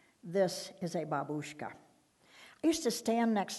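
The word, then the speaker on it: бабушка: It's called a babushka. Grandmother is pronounced differently. Same word. The accent is in a different place. Grandmother is pronounced babushka. This is a babushka.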